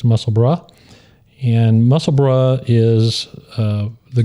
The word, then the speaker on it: Musselburgh: Uh but the br u r g is pronounced bruh. So it's muscle brah.